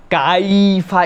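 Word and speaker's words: كَيْفَ: 2 নম্বরে কাইফা, এখানে মনে রাখতে হবে কাইফা, এই যে ইয়াটা, এটাকে বলা হয় লিন। আরবিতে একটা কায়দা আছে লিন, এটা হচ্ছে নরম করে উচ্চারণ হবে, ইয়ার উপরে সাকিন, আগে যদি জবর হয় তাহলে আমাদের জন্য এই ইয়াটা কাইফা এরকম যেন না হয়, কাইফা, কাইফা, মানে এটা একটা নরম হবে, লিন।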